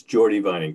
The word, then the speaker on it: Jordy Vining: engineering yeah okay uh correct me on the pronunciation gordy vining or is it geordie vining hi yes it's jordy vining thank you i'm here